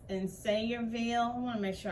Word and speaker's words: Sayreville: It's in Sayreville.